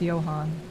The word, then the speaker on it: Johannes: pictures of the ladies Johannes is pronounced Johan Johan's van erber oh